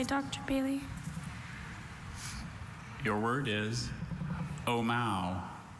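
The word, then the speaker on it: ʻōmaʻo: Your word is Omao. Omao.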